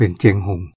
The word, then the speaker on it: เชียงรุ่ง: หลวง คำ นคร เชียงรุ่ง เขียน ว่า เชียง รุ่ง แต่ เวลา ออก เสียง ออก เสียง เป็น เจง หหง คำ ว่า รุ่ง นี่